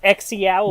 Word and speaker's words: Xiaolin: Doesn't have a J in it. Shut up. Wrong with you. Shut up. Let me pronounce things wrong. Xiaolin. I think Xiaolin. Xiaolin. Look at SH. It's Xiaolin.